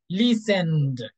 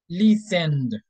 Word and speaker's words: listened: this sound listen you you feel vibration here okay your vocal cords are vibrating so in that case you are going to use the voice sound D so you are going to say listened please send okay like this listen okay this is this sound is going to be like this listened listened very good okay then work